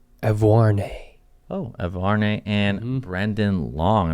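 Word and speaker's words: Auvergne: Evarne.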